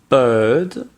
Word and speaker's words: bird: Ensuite, vous avez la différence entre bird, qui est un oiseau, bird, et beard, qui est une barbe, beard.